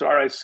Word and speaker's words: Ricciardi: it's Peter Ricciardi, and it's Ricciardi.